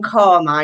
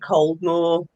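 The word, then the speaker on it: Caldmore: know if you if you don't call from karma you pronounce it cold more but obviously um and other family from dallaston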